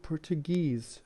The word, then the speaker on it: Portuguese: We also have ESE, Portugal, Portuguese, China, Chinese. The stress is on this suffix rather than the stem.